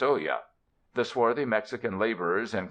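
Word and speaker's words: olla: swings from a beam is an Oya pronounced Oya the swarthy Mexican laborers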